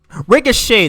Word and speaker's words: ricochet: Ricochet, that's how you pronounce it.